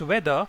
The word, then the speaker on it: weather: between the two words weather and weather the first one is spelled as w-e-a-t-h-e-r and the second one is spelled as w-h-e-t-h-e-r the pronunciation of both these words is the same some English language Learners